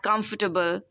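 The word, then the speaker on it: comfortable: word कंफर्टेबल like this break it down into syllable okay कम फर्ट अ बल चार syllable में इसको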